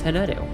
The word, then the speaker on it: Hanettu: If you're asking how to pronounce it, it's Hanettu.